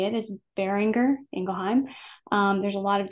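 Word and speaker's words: Boehringer Ingelheim: and that's the way you say it is bearinger engelheim um there's a lot of different pronunciations um bearinger for the bearinger family engelheim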